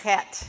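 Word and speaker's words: חית: Okay, so let's pronounce the chet, and it's that scratchy feeling in the back of your throat.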